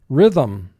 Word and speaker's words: rhythm: we double underline it it almost sounds as if this word has two syllables rhythm but if you look at the word we only have one vowel sound if you only have one vowel sound in a word you have a one syllable word vanguard vanguard the